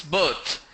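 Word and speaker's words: berth: How do we pronounce birth? B-E-R-T-H. B-E-R-T-H, it's birth. The pronunciation is same like in B-I-R-T-H, B-E-R-T-H. Both are same. The pronunciation is same. So some people say B-I-R-T-H as birth, B-E-R-T-H as birth. No, that's wrong.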